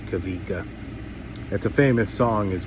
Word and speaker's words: Kawika: It's spelled with the W, but you pronounce it as a V. Kavika, that's a famous song as well.